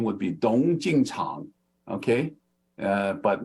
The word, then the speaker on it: Tung: research Association and yes Don is the way you pronounce t-u-n-g tongue right it is not master tongue right it is Master dong okay or Master tongue uh I don't know how how other people pronounce it but it should be dong opinion is don't okay and it is not because t-o-n-g would be wrong like the blue poppy